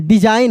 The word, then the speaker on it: design: DESIGN डिजाइन, हम लोग बोलते हैं डिजाइन, वहां पे G साइलेंट रहेगा। S को हम लोग ज पढ़ रहे हैं, डिजाइन।